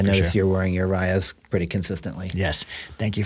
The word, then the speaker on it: Raya: I was pronouncing it Rhea before, but it is Raya.